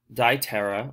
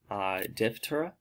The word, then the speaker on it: Diptera: stinkbug the squash bug die tara or Diptera depending on your pronunciation making up flies such